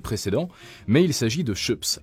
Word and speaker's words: Schoeps: mais il s'agit de chops alors c'est pas chaud ça parce que on a tendance à se tromper sur la prononciation moi le premier dans l'épisode précédent mais c'est bel et bien chips c'est une entreprise de